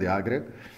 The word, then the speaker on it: Jágr: Takže jako výslovnost, říkáte to správně, jako je Jaromír Jágr, Jaromír Jágr, i ty Američani se naučili nakonec místo Jagger mu říkat Jágr, tak prostě Katy Perry